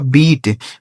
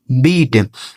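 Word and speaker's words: beat: जैसे पढ़ेंगे हीट बी ई ए टी बी से हो गया दोस्तों ब इस इ ए का उच्चारण बड़ी ई की मात्रा टी से हो गया ट यह लिखा गया आपका बीट बी ई ए टी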